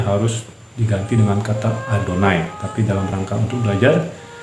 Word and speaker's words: Adonai: Oke, nah jadi menurut etika membacanya memang kita harus mengikuti aturan itu, yaitu kalau ada 4 huruf konsonan ini, yaitu Yod, He, Pav, He, Yod, He, Pav, He, kita dianjurkan untuk membacanya menjadi Adonai.